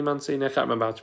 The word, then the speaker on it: Mancini: his name there's a there's a guy who sells guitars around the corner called man mancini which is spelt the same way so i think it's manchini because i think it's